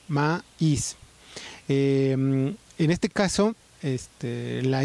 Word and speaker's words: maíz: ejemplo la palabra maíz la palabra maíz es una palabra que se compone de dos sílabas ma is en este caso estela